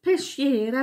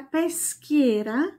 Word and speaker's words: Peschiera: Nicht Peschiera, Peschiera.